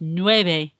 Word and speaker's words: nueve: Nueve, that V here is not a V in Spanish, not a V sound, it's more of a B sound. It's a subtle B sound, and it's nueve, nueve. It's not a V as in how we pronounce V in English, okay? Nueve, nueve.